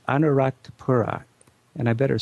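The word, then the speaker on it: Anuradhapura: well another great city is a city called anarat Pura and I better spell that these Sri Lanka names are really tough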